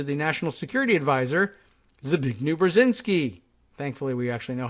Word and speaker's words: Brzezinski: Kissinger made a personal appeal to the national security adviser Zbigniew Brzezinski thankfully we actually know how to pronounce his name and a follow-up phone call to mr.